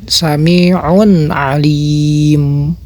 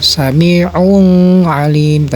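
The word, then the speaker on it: سميع عليم: Seperti apa sami'un Alim Nah itu juga sama jangan ada dengung jangan seperti begini Bacanya saminta jangan ada dengung seperti itu atau jangan ada pantulan jangan seperti begini Ya sami Nah itu cara baca izhar nah perbedaan antara nun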